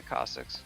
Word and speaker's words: Cossacks: your with your buddies you said caustics that's how you should be pronouncing it right yeah caustics okay good to know thank